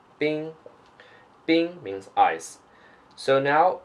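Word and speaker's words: bīng: means ice okay and the pinging is B I and G with the first home Bing Bing means ice so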